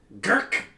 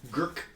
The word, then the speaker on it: Gurk: Gurk. Yeah, that's a nice one. Sorry. Yeah, Gurk. We'll go Gurk.